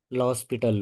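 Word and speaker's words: L'Hospital: अगर लिमिट रखने के बाद कोई भी चीज इस फॉर्म में आए या इनफिनिटी अप इनफिनिटी आए तो ऑलवेज यूज़ लॉस पिटल रूल। यहां h साइलेंट है।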